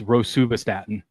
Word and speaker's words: rosuvastatin: It's Rosuvastatin.